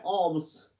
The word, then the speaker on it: alms: ALMS, एल इसमें silent रहता है. ऑम्स, खैरत.